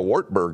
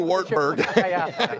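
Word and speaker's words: Wartburg: if we'll ever do wartberg it sounds better in English if you pronounce it V there go hey Campbell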